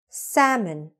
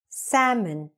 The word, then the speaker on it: salmon: Salmon. Again. Salmon.